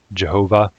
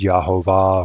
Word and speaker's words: Jehovah: The standard anglicized pronunciation of that is Jehovah, and sometimes it's pronounced Yahovah or Yahovo.